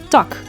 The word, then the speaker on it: tak: i and u a is in the word tuck which translates to branch in English tuck ah as in the word man which means